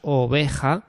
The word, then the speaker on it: oveja: En la en el ejemplo de la palabra oveja teníamos tres sílabas oveja.